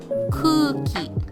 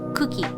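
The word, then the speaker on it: くうき: When pronouncing these repeating vowels, you simply drag the vowel sound. So this would be kuki, not cookie.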